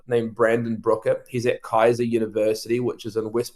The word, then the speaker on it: Keiser: He's at Kaiser University, which is in West Palm, Florida. It's spelled Keiser, Kaiser University.